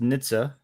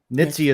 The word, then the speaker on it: Nitze: pronouncing it sure yeah so um it is pronounced Nitsa nitzi is a common pronunciation but we uh it's